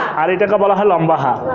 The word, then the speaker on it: লম্বা হা: এই লম্বা হা উচ্চারণ হবে গলার মধ্যে।